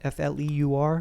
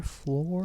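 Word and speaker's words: Fleur: Got to build things up, not tear them down like my dear friend Floor. Is that how you pronounce that? F-L-E-U-R? Floor? Fleu.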